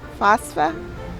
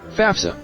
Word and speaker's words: FAFSA: And the way you pronounce this word is fafsa.